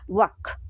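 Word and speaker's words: walk: एठी अछि डब्ल्यू ए एल के वाल्क प्रकृति एटा कोन वाल्क किंतु हमें पढू कोन वाक बोली पढू।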